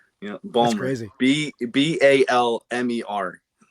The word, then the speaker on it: Baltimore: know Baltimore Baltimore No, it's actually I'm not I'm not even pronouncing how it's supposed to be. It's supposed to be Balmer.